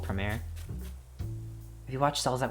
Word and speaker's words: Promare: a big girl largon fan i definitely recommend premiere because uh it is a in a way it's just like a spiritual successor type movie it's spelled like this p r o m a r e the whole time i thought it was promare